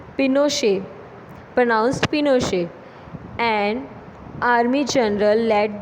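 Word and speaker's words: Pinochet: Military corp general Augusto पिनोशे, pronounced पिनोशे, and army general lead the corp.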